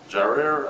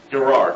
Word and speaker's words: Gerar: settled down in Kadesh, and Sir journeyed to Gerar," I don't know if that's right.